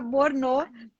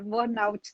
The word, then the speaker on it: burnout: Que eu até achava que era Borno, parecia francês, mas não é, né? É burnout que se pronuncia. é burnout, exatamente.